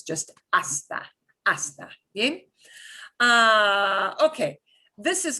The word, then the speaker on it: hasta: begins with nh so even though it's spelled with an h don't pronounce the h it's just hasta hasta uh okay this